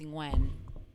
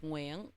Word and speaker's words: Nguyen: No, well, that's the best way to pronounce my name As an English speaker. As an English speaker. Okay. In Vietnamese, it's Nguyen, Yeah. but the Ooh. NG is hard for people.